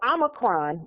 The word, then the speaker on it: omicron: window of opportunity okay in it's a noun omicron is a noun in the greek greek it is pronounced o micron and please look up what